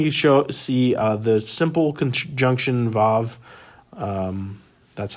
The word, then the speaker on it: vav: Anytime you see the simple conjunction vav, that's how we would pronounce this.